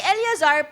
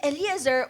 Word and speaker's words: Eliezer: Okay Ayan okay si Eliazar pero we pronounce it eliazer or the connector or